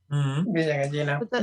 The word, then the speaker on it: Villa Gallina: I know, that's why I wanted to say Villa Gallina. Villa Gallina. Yeah, you said it right.